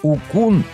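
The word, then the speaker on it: Wukong: не вун а вун Хотя правильно говорить укун и учан ждём в следующем году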